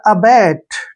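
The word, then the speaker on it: abate: का उच्चारण ट लिखेंगे और ई का उच्चारण हमने नहीं करना है क्योंकि लास्ट में अगर ई आता है तो उसका उच्चारण हम नहीं करते हैं ये हो गया अबेट ठीक है ना अबेट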